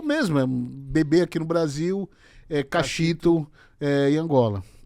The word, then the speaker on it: Kaxitu: Todo mundo, antes até de perguntar por que eu tenho esse nome, pergunta a pronúncia certa. Eu sempre falei Cachito, tem gente que fala Cachitu.